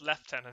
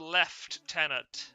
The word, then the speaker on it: Lieutenant: Yes, it's pronounced left tenant, isn't it? because he is the left tenant or it's something French.